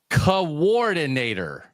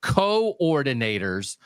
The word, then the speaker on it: coordinator: Um, Doug, can you please stop pronouncing it coordinator? They are coordinating the offense defense like as pronounced in hand eye coordination. They are co-ordinators, not coordinators.